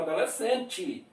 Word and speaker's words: adolescente: na nossa região fala adolescente. O E pronuncia I no final. No final, geralmente, o E pronuncia I, mas tem alguma região que vai falar E, adolescente.